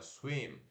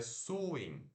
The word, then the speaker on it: swim: Swim. Se aqui fosse um U de uva, seria swing, swing. Não é swing, é swim.